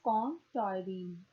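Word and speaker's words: Colm Tóibín: An Irish novelist, Com Toynbee, okay, its pronunciation is Com Toynbee, once recounted a story about observing a Cantonese man sitting on a Kowloon footpath reading a book.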